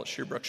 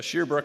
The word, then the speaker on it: Shear Brook: correct my pronunciation because I wanted to call Asher Brooks Shoshone but apparently it's it's not pronounced that way so sheer brook Shoshone you know he passes